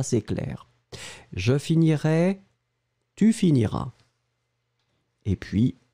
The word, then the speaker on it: finiras: première personne deuxième personne tu finiras à esse esse final pas prononcé ça c'est clair je finirai tu finiras et puis l île